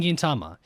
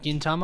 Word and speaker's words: Gintama: suspense because you already know today we're starting Gintama that is how it's pronounced right Gintama I'm pretty sure to tell you pronounce it